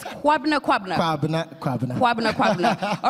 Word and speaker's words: Kwabena Kwabena: Now, just so I get the right pronunciation right, it's Kwabena Kwabena. Kwabena Kwabena.